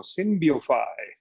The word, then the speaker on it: Synbiofy: I'm saying it how they say it down in Mexico, Synbiofy.